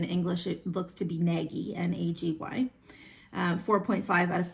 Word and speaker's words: Nagy: I believe in Hungarian her last name is pronounced Nagy, but in English it looks to be Nagy, N-A-G-Y.